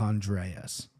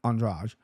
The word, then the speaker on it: Andrade: goes, hey, bros, take Andreas. Okay, can't even pronounce her name right, Andrade.